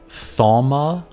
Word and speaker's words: Thaumaturge: It's Thaumaturge.